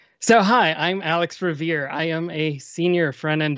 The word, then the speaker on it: Riviere: We pronounce it Revere. So, hi, I'm Alex Revere.